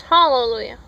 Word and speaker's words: hallelujah: It's hallelujah. This is not Spanish where the H is silent.